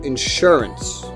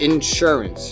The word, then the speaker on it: insurance: the 44 is insurance most people pronounce the word insurance with an emphasis on the second syllable insurance some people in the